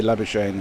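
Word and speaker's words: Labuschagne: Duncan Stewart Ke says, "Love how the Aussies say Manus' surname." Come on, guys. Say it like a B. Well, he's the one who didn't want us to say Labak, but uh you know, it's his his fault that we say Labashane in Australia, but South Africans shall not be fooled, Mr.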